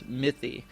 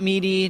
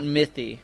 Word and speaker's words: Mythy: We actually got a U spell check and it's actually or pronunciation check and it's Mythy. Noty. Yeah. Not not mey, not Maty, not Mie, but Mythy.